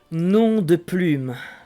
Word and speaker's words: nom de plume: If you want the correct pronunciation, is nom de plume. Non de plume.